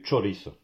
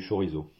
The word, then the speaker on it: chorizo: ne mange pas du chorizo on mange du choris le ch euh ne se prononce pas en espagnol comme en français en